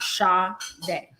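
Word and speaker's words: Sade: to be each other it's supposed to be s-a-d-e but my dad spelled it how he thought you know how it's pronounced shaw day wait wait so oh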